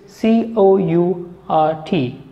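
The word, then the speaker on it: caught: You can write it like C-A-U-G-H-T, which is the past tense form of catch. And the same pronunciation can have another spelling, which is C-O-U-R-T. Both these words are spoken in the same way, court.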